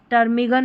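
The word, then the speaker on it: ptarmigan: फिर नंबर 37 पर है हमारा पी टी। इसको ट पढ़ना है। पीटी को हम ट पढ़ेंगे। पी जो है ना वो साइलेंट है। पी जो है ना इसको नहीं पढ़ा जाएगा। यहां पर देखिए टर्मिगन होगा। टैरोडक्टाइल है। टैरोडक्टाइल पी साइलेंट है।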